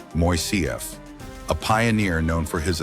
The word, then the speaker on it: Moisseiff: The call went out for a design that was both elegant and affordable, leading to the selection of engineer Leon Moisseiff, pronounced Moisseiff, a pioneer known for his aesthetically pleasing yet remarkably flexible suspension bridge designs.